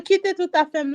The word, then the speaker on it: Kite Tout Afem: So Kite Tout Afem, meaning leave all my things here.